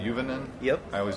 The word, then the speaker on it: Juvonen: Is it Juvonen? Is that right? You got it.